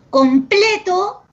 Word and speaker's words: completo: Completo, su sílaba tónica es ple, y completó, su sílaba tónica es to.